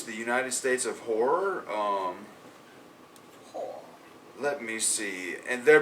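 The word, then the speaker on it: HO99O9: My number 3, people, is a band called Horror. Horror, but it's spelled HO9909, and it is some of the best shit I've heard in ages.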